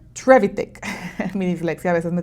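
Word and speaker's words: Trevithick: Y el hombre que lo inventa se llama Richard Treivic, perdón, lo pronuncié mal. Richard Trevitic.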